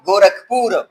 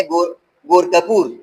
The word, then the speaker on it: گورکھپور: بعض لوگ اس کا تلفظ اختیار کرتے ہیں، بڑے بڑے لوگ میں نے سنے ہیں وہ تلفظ اختیار کرتے ہیں گورکھپور. گورکھپور. تو کپور میں یہ دو چشمی ہاں موجود نہیں ہے.